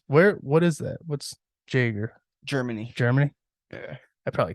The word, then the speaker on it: Jaeger: is it Jaeger right Jagger Jake it's not Jaeger it's Jager dude everyone pronounces it Jaeger that's that's just what it